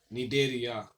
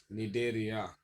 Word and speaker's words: Cnidaria: The next topic is the one phylum Cnidaria. Phylum Cnidaria. Here, so this is the one second phylum of invertebrates. See, come as a silent one. Pronunciations Cnidaria.